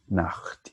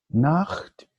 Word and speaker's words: Nacht: Make sure CH, Nacht, you pronounce it. If you don't pronounce it, it will be another word, which is a bad word in German, okay, which sounds the same. Nacht, Papa.